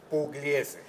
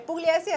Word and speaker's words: Pugliese: es Pugliese, pronuncia atrás de mí, Miguel Rodríguez Torres, ¿cómo es? Pugliese. Es Pugliese, este es el señor Pugliese, Rodríguez Torres, te lo presento.